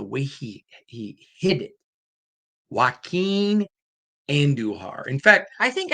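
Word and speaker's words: Joaquín: Waqen Anduhar.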